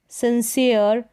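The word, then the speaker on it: sincere: तो यहाँ पर देखा कि ई आर ई के कॉम्बिनेशन वाले में ई का उच्चारण ईय करके होता है। जैसे स्फीयर, मेयर, सिंसियर, एटमॉस्फेयर, तो इस तरीके से ई का उच्चारण ईय।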